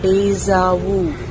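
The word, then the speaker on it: déjà vu: இதை இங்கிலீஷில் எப்படி ப்ரொனவுன்ஸ் பண்ணலான்னு பார்த்தீங்கன்னா டேஜாவு. டேஜாவு அப்படின்னா the feeling that you have experienced already the same moment before.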